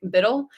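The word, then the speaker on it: BUIDL: crypto they'll spelled it they'll spell it Bui DL like Biddle and black rock actually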